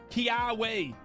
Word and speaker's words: Kiawe: Kiawe, I believe it's said, because a lot of people specifically told me how to say this after I said it wrong once Kiawe, choose one of your Alolan Marowak's alternator.